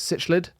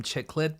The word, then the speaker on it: cichlid: is a I never know how to say it sitch liid oh I always call them chick lid but I don't think they are chick Lids that I that's a word that I always mispronounce is what I let's land